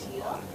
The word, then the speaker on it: year: vision for the year. It is not ear. It should be year. How do you pronounce it? Year. It should be year. Get year as in yes, and then say year.